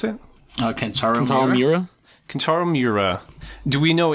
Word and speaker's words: Kentaro Miura: How'd you pronounce it? Kentaro Miura.